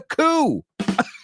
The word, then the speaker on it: coup: It started with a coup. Oh, no. We just looked at this word. A coup, C-O-U-P, is a coup d'etat, right? A coup. Now, also coup, que se pronuncia exactamente igual, C-O-O, es arrullo, okay?